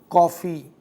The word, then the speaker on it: कॉफी: है जैसे college hockey कॉफी doctor अब यह जो उच्चारण है कॉफी कॉलेज इसमें ना तो ओ है ना आ है इन दोनों के मध्य का एक स्वर है यह स्वर हमारे पास